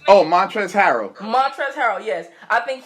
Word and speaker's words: Montrezl Harrell: Or how you pronounce his name? Oh, Montrezl Harrell.